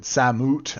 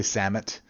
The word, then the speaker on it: Samut: Samut. I don't know how you pronounce it. I say Samut. It's like salmon, but ut.